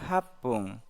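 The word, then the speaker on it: はっぷん: Menit ke-8 hapung.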